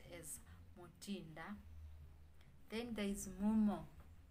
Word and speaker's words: Motinda: If it's given to a male, then it will be pronounced as Motinda. If it's given to a female, then it will be pronounced as Motinda.